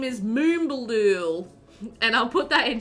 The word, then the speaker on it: Moombaldool: And he was like, yeah, Moombaldool.